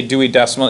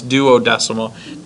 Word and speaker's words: duodecimal: Well, if a dime was equal to 10, if I did a Dewey, or they call, well, I always say Dewey decimal. It's not Dewey decimal, it's duodecimal. Dewey decimal system, isn't that like for the library?